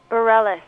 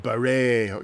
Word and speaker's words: Bareilles: What's the correct pronunciation of your surname? Bareilles. I've lost a bet! Oh, I've been arguing and arguing. It was maybe some kind of French thing, Bareilles, you know.